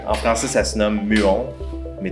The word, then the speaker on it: muon: Mais ça s'appelle, en français ça se nomme muon, mais tu peux le dire cool à l'anglaise avec muon.